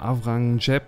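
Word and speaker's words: Aurangzeb: gerade unter avrangep ich also avrangzep wird es geschrieben aber ich glaube das Z wird wie ein je oder wie ein S ausgesprochen unter avrang oder avrang Jeb wurden die muslimischen Bevölkerungsgruppen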